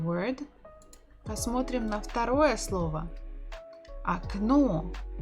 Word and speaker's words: окно: Окно. Окно. The stress is on the final syllable.